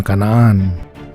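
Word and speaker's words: كنعان: Wilayah tersebut dikenal sebagai Kanaan atau Kenan dalam bahasa Inggris, dan dalam bahasa Arab diucapkan Kanaan.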